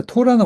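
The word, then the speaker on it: תורה: 토라 토라 자 토라는 원래 강세가 여기 토 토라 토라 이렇게 강세가 와요.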